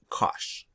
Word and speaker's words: cosh: in the trig functions and we call this cosh cosh of x okay so my cinch and cosh